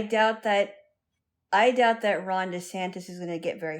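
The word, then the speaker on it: DeSantis: Oh, by the way, I found out that his name is spelled with an I, not an O. Ronda Santis. Dantis. I thought it was D Santos.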